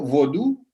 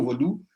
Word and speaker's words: vodú: De esta manera, el equivalente en español sería lo último que tenemos abajo, vodú, con acento en la última U, vodú, para hacer el acento en la última sílaba, en lugar de voodoo.